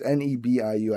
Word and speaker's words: Nebu: I was talking about the single Magic by Nebu. I don't know how to pronounce it. It's Nebiu.